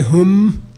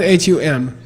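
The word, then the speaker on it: Hūṃ: Okay, by the way, some people say Hum, it's not Hum. It's not H-U-M, that's a mispronunciation. H-U-N-G, Hum, Hum, like French.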